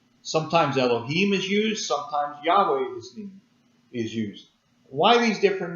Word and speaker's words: Yahweh: one we see here yhwh we pronounce it yahweh sometimes it's pronounced jehovah